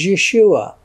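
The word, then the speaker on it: ישוע: But that's how you pronounce the English word Jesus, the English name Jesus, in Hebrew is Yeshua.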